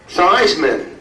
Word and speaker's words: Theismann: Theismann rhymes with Heisman.